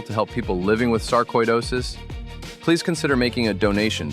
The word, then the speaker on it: sarcoidosis: It's sarcoidosis, not sarcoidosis. Sarcoidosis. Koi, like the fish.